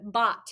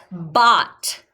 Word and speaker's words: bought: trick word smarties bot let's skywrite the word bot here we go b o u g h t bot let's skywrite it on our arms here we